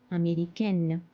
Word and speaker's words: Américaine: Sud-Africain, Sud-Africaine, Américain, Américaine. So we pronounce the last N because of E.